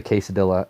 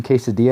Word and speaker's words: quesadilla: thinking you know it's funny that people pronounce like quesadilla quesadilla and when I went to order I literally said I'll have the quesadilla and I felt so stupid because he's like don't you mean quesadilla and I was like